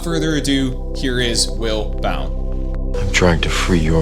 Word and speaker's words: Bown: Now, joining me today, I have Will I always pronounced this wrong, Bound? Correct. That's correct. Like Bound without the D. Okay. Will Bound, thank you.